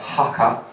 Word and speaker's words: Haka: a team called FC, I'll say it right, Haka, H-A-K-A.